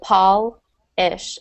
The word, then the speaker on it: polish: So Paul-ish, and the first one's pole, pronounced as if you would have an E after that L. So you can think of to polish, to pronounce that, it's kind of like the word doll at first.